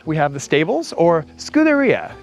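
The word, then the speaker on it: scuderia: Uh so, right here we have the stables or scooteria is how I'm told it's pronounced in Italian.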